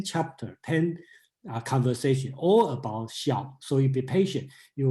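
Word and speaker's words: 孝: That's why I keep the Chinese pronunciation xiao, okay?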